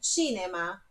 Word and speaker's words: cinema: Olha que a pronúncia do cinema é quase. A palavra é igual em português, mas a pronúncia é cinema. Sílaba forte ali no ti. Esse CI é ti, ó.